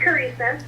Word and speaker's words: Carissa: Is it Carissa or Caressa? It's Carissa. Carissa, okay, now we know for sure.